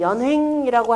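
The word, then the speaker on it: 連衡: 그래서 좌시 아형이고 합종 연횡이라고 할 때 연형이라고 써놓고 그때 읽을 때는 뭐라고 한다? 연횡이라 읽는다라고 그랬죠.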